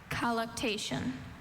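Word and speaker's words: colluctation: Collation. Are there any alternate pronunciations?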